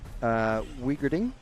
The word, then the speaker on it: Wiegerding: Marco Wiegerding, which is apparently how you say it. You don't say the W as a V for his name.